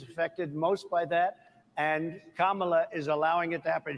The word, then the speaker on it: Kamala: And Kamala is allowing it to happen.